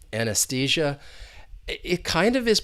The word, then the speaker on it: anesthesia: an unstressed V sound and that next e is the long e because that is the